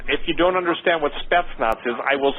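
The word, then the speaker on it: Spetsnaz: weapons and again if you don't understand what steps knots is I will spell it s-p-e-t-s-n-a-z okay SP you know what their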